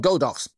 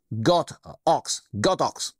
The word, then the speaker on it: Godox: This guy here, this is the Godox, not Godox, pronounce it correctly, Godox wireless mic kit to review.